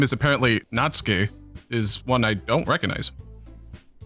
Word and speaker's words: Natsuki: natski I've been saying natsuki this whole time God damn it it technically it is natski and I always said natsuki for a long time